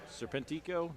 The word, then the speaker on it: Serpentico: my high school spanish if a word ends in a vowel n or s you stress the next to last syllable if a word